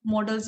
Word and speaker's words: modals: और one more thing, मॉडल्स verb का pronunciation मॉडल्स ही होता है, मोडाल्स नहीं होता।